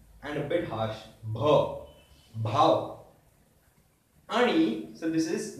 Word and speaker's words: आणि: So ani. Ani. Okay. Ani. Bhayan. So again, this NN is that one.